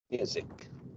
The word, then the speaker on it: music: Music, it's the first syllable.